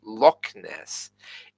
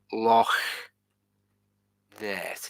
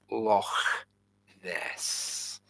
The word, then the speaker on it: Loch Ness: Well, it's not actually Loch Ness. It's pronounced like this: Loch Ness. It's two separate words. Loch Ness.